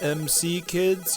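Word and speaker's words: M.C. Kids: MC kids you are correct and it is pronounced MC kids check the copyright displayed right here on the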